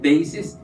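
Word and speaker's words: δέησις: If I'm studying a word, so when I pronounce it, deesis, that's the correct pronunciation.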